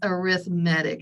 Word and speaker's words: arithmetic: arithmetic involves adding and I know it looks like arithmetic but for some reason when we talk about sequences we put the emphasis on the wrong syllable so it's a syllable it's arithmetic is the way they say that so these have to